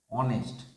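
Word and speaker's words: honest: एन ऑनेस्ट मैन देखो ने जिनिस बो नेस्ट ऑनेस्ट ऑनेस्ट जज तो कंसोनेंट कंसोनेंट ले तार आगे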